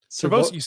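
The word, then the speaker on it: Sirvocea: Servosia.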